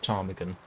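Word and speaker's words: ptarmigan: I would like to have a serious word with the idea who thought that putting a silent P in front of Tarmigan was a good idea.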